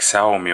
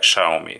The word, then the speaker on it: Xiaomi: least halfway correctly because usually I used to pronounce it somewhere like sell me or something like that so but YouTube says that it should be something like Xiaomi or Xiaomi air 2